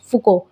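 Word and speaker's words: Foucault: तो ये न्यू हिस्टोरिज्म किससे प्रेरित है, तो एग्जाम में आ जाए तो आप लिखेंगे माइकल फुको, ठीक है, FOU, ठीक है। इसकी स्पेलिंग CAULT होती है।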